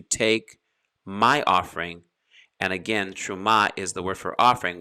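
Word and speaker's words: תרומה: for me the hebrew word for offering is terumah depending on how fast you pronounce your hebrew from anyone whose heart compels him to take my offering and again truma is the word for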